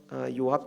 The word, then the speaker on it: 요압: 두 번째 살펴볼 사람은 요압 장군입니다이 요압이라는 말의 히브리어 발음은 요아브입니다이 히브리어 이름의 아브 아비